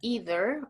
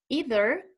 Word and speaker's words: either: The word can be pronounced in two different ways, okay?